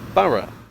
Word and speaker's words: Borough: o-u-g-h they can be pronounced this station is pronounced boro but this one is lauten don't even get